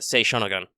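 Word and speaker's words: Sei Shōnagon: We had this conversation about Sei Shonogun. Because that's a long O in there.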